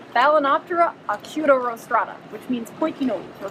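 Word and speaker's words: Balaenoptera acutorostrata: It rhymes with Hakuna Matata. What? It's Balanoptera acutorostrata, which means pointy nose or pointy rostrum.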